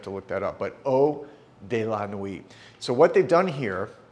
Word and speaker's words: Eau de la Nuit: And the name of this one is, I want to make sure I pronounce it correctly. This is Eau de la Nuit.